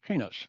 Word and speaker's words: Pines: Well, anyway, so in Israel, the name Pines is pronounced penis, right?